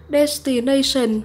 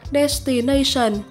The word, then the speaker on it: destination: Từ số 5, chúng ta có danh từ là destination hoặc destination.